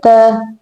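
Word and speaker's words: ت: Okay, mention this thing like T in talk but softer. T.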